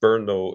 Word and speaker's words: Brno: If you go to I think it's pronounced Brno in the Czech Republic, yeah, yeah, and you